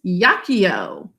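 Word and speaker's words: jacio: The J makes a Y sound in Latin. This is jaccio, jactum.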